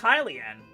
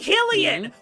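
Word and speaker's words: Hylian: Yeah, honestly it is pronounced Hilian. Yeah, but a lot of people I know don't pronounce it that way. It's Hilian. Yeah. Why do people Why do people say Helen?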